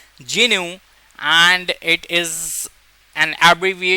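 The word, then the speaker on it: GNU: here a fun fact this ji एनय licence is technically pronounced as Jinu and इट इज एन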